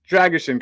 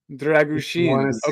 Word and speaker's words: Dragusin: and am I pronouncing dragusin correctly well it's actually dushin dragusin yeah dushin dushin we have a couple of special letters in uh in the Romanian language but you know I